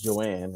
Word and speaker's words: Johanne: So my wife's name is Joanne, right? And it's spelled Johanne. The H is silent.